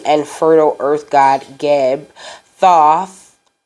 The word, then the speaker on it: Thoth: Fertile Earth God gab Thoth or thus is how you say it it is also present